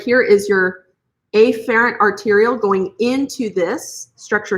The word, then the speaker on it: afferent: arterial now in actuality these terms are pronounced afferent and efferent but how many of